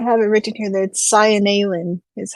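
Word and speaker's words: Seinalan: Oh, I have it written here that Cyanalin is how it Cyanalin? sounds. Yep, Cyanalin. That makes sense. Like I said, each vowel is supposed to be pronounced Cyanalin.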